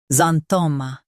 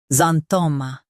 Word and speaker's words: xanthoma: Today, we will learn how to pronounce the word shown on the screen. Xanthoma. Both US and UK have the same pronunciation of this word. Xanthoma.